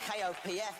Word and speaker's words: Kopf: Kopf, spelled K-O-P-F, but I've been told not to pronounce the letter P.